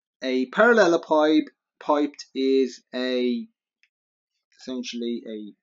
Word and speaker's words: parallelepiped: say it's like this to shake a parallelepiped piped is a essentially a bricks tall object